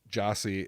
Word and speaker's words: Gyasi: The album is literally called Pronounced, and then it's Jah, I think like SE, but the name, his actual name, Jossie, is spelled Gyasi.